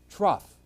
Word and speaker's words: trough: of the r all of a sudden it's trough put an h between the t and the